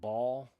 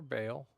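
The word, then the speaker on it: Baal: the blue stones but ball really ah geez or Bale. Now, depends on how you want to focus pronounce pronounce the double A.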